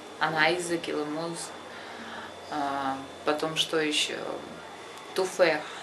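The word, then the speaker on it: تفاح: И вот последнее х, вы не говорите туфех. То есть у них ха, вот это, она более как бы ха, мягкая, туфех.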